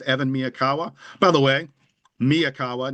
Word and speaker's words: Miyakawa: By the way, Miaawa, not Mayakawa. There are people who pronounce his name wrong.